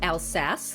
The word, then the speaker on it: Alsace: I tried out a French dry Riesling from Alsace. I totally botched that pronunciation during the actual episode, so had to correct it here.